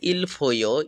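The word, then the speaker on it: Il Foglio: উত্তর ইলফোগ্লিও ইতালির। এটি স্থানীয় উচ্চারণ হবে ইলফও।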